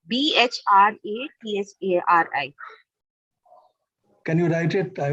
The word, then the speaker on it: Bhartrihari: Maybe I'm pronouncing it wrong. It's Bhratathari. Can you write it? I will. It's Bhartrihari.